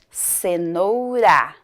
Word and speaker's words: cenoura: é a mesma sílaba Porém Aqui na palavra cenoura esse R tem um som mais fraco eu falo cenoura quando o r tá